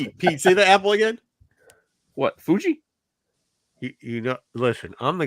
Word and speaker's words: Fuji: right team what yeah it's not Fiji it's Fuji it's a you like Mount Fuji Fiji is the water